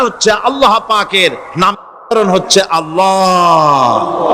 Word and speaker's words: আল্লাহ: আল্লাহ পাকের উচ্চারণটা হচ্ছে, আল্লাহ পাকের নামকরণ হচ্ছে আল্লাহ। মুখটা একটু গোল হয়ে যাবে, বলেন আল্লাহ।